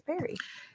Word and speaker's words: peri: People say peri who were like around my age, and I'm like, did they mean pre? Are they saying it wrong? Oh, it's peri.